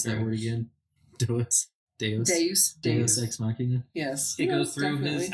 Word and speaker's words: Deus ex machina: How do you pronounce that word again? Deus. Deus ex machina.